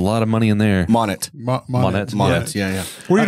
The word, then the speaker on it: Monet: largest private collection of Monae oh yeah yeah yeah that's true so I mean it's pretty cool I think it's pronounced money dude it's a lot of money in there Monet yeah yeah where do